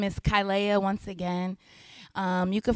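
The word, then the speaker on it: Kilaiah: I appreciate that yes so my name is kyia once again um you can follow me on Instagram it's spelled k i l a i a h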